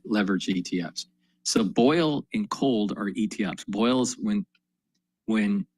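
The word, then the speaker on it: KOLD: So boil and cold are ETFs. Boil's when when natural gas is going up. Cold is the ETF spelled with a K.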